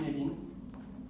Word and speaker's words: Cynefin: Alors ça s'écrit cinéfin, ça se prononce comme Kevin avec la peine au milieu, c'est Knevin, c'est du gallois, et ça veut dire foyer.